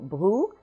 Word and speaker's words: Brou: First, we have the first syllable, bru, and whenever you have the spelling O-U in French, you have the sound OU, which is this phonetic symbol here. But also in that first syllable, you have the French R, the R. And this R does cause trouble for a lot of English speakers.